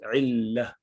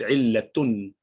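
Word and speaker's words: علة: When you stop at rounded ta, it becomes illah. Actually, it is illatun. And in Urdu language, you would say illat. Some Arab use illat as well. They pronounce the last letter as well.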